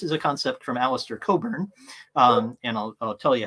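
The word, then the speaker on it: Cockburn: is not obvious um and the CK is silent in his name for reasons that uh that you could probably guess um and Alistair had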